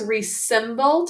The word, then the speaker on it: resemble: Okay, we can think to spell this word as resemble to help you remember that there's a z that makes that z sound.